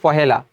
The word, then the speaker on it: পহেলা: 1950 সালের পহেলা সেপ্টেম্বর একলা না উচ্চারণটা হবে পহেলা এবার